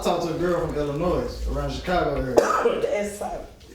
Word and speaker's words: Illinois: I talked to a girl from Illinois, around Chicago area. The S is silent. And the S is silent. FYI. Illinois.